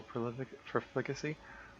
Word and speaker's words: profligacy: Licentious or dissolute behavior, the emperor's sexual profligacy? Profligacy. Profligacy. Oh, it wants to put the emphasis on the first syllable.